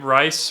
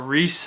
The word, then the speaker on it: Riis: The next person is going to be Jacob Riis, or Reese, however you want to pronounce it.